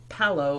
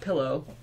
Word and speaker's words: pillow: 50% of the people in Los Angeles pronounce it palo and not pillow. Really quickly. Palo? But like, you know, I need another pillow. Like, it's almost like an E or an A sound in it.